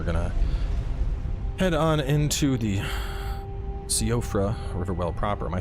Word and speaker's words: Siofra: Yeah, I kept calling it Soifra. And in the Let's Play, and people are like, no, it's not Soifra, it's Siofra.